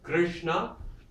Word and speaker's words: Krishna: Krishna, 2 syllables. The ri is a syllable, kri, and Krishna.